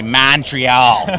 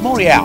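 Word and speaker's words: Montréal: with the pronunciation because a lot of Americans say Montreal or Montreal or you know or monreal right so it's it's monreal come on let's get it right it's nice to be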